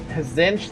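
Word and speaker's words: Tzeentch: Zinch. The T is silent.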